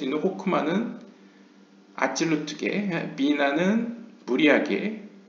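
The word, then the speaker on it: חכמה: 첫 번째는 호크마. 여기서 하크마라고 한 것은 이제 약간 동유럽식 히브리어 발음이고요. 호크마, 그 다음에 비나, 그 다음에 세 번째부터 8번째까지는 이 헤세드 게브라 티프렛 네자 호드 예소드.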